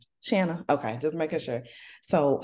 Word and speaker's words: Shanna: Shanna.